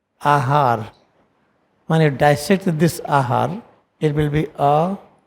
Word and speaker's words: āhār: When you dissect this ahar, it will be a 2 times. 2 times a means like this we write. Then har we write like this. We pronounce like this, ahar, ha.